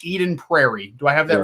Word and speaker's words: Eden Prairie: So I want to go back to, I think it's pronounced Eden Prairie.